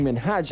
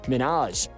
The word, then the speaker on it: Minhaj: calling him by his wrong name she kept pronouncing minhaj as minaj and truthfully no one likes to hear their